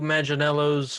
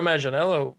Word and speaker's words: Manganiello: Joe Manganiello's is that how you say his name?